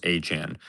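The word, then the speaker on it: Etienne: out and said, "My last name is not pronounced ETN. It's pronounced Achan."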